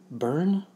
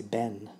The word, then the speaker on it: Bern: So for Burn, which is my true usual diminutive, instead of saying Burn, often Scottish would probably say Ben, because the R isn't pronounced.